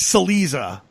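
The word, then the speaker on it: Cillizza: Chiliza? I've never tried to pronounce his last name. I've read it, but if you go by the standard Italian pronunciation, it'd be like Chiliza. It's Chiliza.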